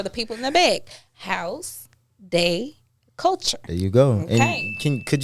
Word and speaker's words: Haus De Kulture: more time for the people in the back house day culture there you go can could you spell it out for them just because you know